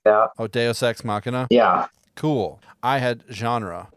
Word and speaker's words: deus ex machina: forget how to say it but it's like vxu god of the machine or something like that oh deus ex machina yeah cool i had genre so maybe i